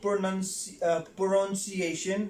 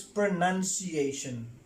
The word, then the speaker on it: pronunciation: Number 4 is not pronunciation. The word is pronunciation. The word is pronunciation. Yes, many of the people, they pronounce the word pronunciation. It's not pronoun, it's pronunciation.